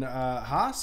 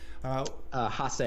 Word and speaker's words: Haase: on to the second round to take on Haas. Is that how you say it? Haase.